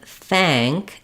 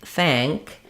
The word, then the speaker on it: thank: and the k sound so in think you're going to have it with the the F sound the I sound the NG sound and the C Sound think think um and thank thank you're going to have the same pattern but with the a sound